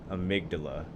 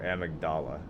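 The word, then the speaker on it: Amygdala: These guys, um, there is one of these at the end of the frontier called Amydala or Amagdala. Um, Patches pronounces it Amagdala.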